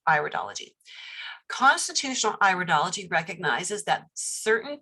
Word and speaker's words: iridology: word it is not iridology it is iridology it is an iris so it's iridology constitutional iridology recognizes that